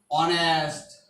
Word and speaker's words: honest: Suppose he is dash honest man. Honest is formed with consonant. H is consonant. Honest.